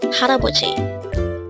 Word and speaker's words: 할아버지: Pronounce it with me. Haraboji. Again, it's haraboji. What is the meaning of the word haraboji?